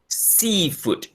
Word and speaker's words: seafood: Place the stress on the first noun. Seafood.